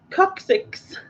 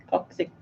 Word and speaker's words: coccyx: But yes, it is the coccyx. So 6 coccyxes. Yeah. A lot of cock. Yeah. I knew what you meant, Susan. I will take that. That's probably more how it sounds anyway. Coccyx.